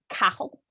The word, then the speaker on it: Cathal: I had a friend who speaks Gaelic tell me it's like Cathal.